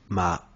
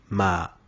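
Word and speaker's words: 麻: dans la forme pinine le deième ton est martalisé par un accent montant à l'image de la tonalité utiliser avec la syllable ma qui lui donne le sens de chanvre soyez attentif à la prononciation ma ma ma petit conseil pour prononcer le deuxième ton ne démarrez pas trop dans les aigus vous n'arriveriez plus à monter passons désormais au trè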